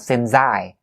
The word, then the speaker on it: since: It's not the Z sound, alright? So since I, not since I.